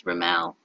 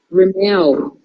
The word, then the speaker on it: Rimmel: And then we find out you don't pronounce it Rimmel, it's Rimmel. Rimmel.